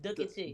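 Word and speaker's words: Dooky Chase: That's how you pronounce it, Dookie Chase.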